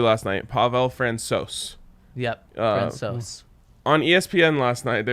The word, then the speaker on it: Francouz: Speaking of pronunciations, the Avs goalie last night, Pavel Francouz. Yep, Francouz. On ESPN last night, they were calling him Pavel Francois, as if he was like French, and it